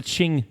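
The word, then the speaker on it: Qin: on your board or are the two chin q i n Ching q i n g well here goes nothing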